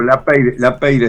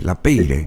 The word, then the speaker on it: Lapeyre: No, Lapeyre simplemente. A Lapeyre. Sí, efectivamente. Pero efectivamente. es de origen francés, ¿es verdad? Es verdad, correctamente, sí señor. Lapeyre, Lapeyre.